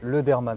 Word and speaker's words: Ledermann: Oui, Lederman, c'est un nom alsacien.